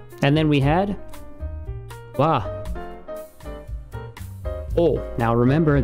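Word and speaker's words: を: O. Now remember, this is W-O, but it's... For now, for you, it's O. Just pronounce it as O.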